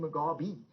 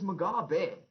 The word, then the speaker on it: Mugabe: he got upset because i kept saying mugabe and he said dude it's magabe just learn how to say the bloody name and it's not a